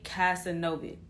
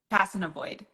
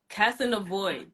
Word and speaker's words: Kassanavoid: I'm saying her name correctly it is Jana casanov yes okay let's bring her on see hey